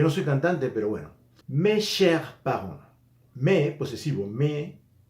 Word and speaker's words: mes: Mes chers parents. Me, posesivo, me. Cher. Ese me es un sonido E cerrado. Me, saben que la S no se pronuncia.